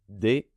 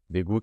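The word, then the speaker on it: 대구: Par exemple, la première syllabe du premier mot, c'est un D et le E, c'est D. Et la deuxième syllabe, c'est le KG. Ici, je sais que c'est un G. Et le OU. Ça fait Daegu.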